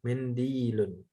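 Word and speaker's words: مِنْدِيلٌ: Ya, mindilun. Dalnya panjang, ada ya sukun nyambung sama lam. Mindilun.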